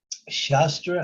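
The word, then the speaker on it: शास्त्र: There are two things. One is called Shastra and one is called Shastra. Both are spelled the same, but the emphasis is said differently.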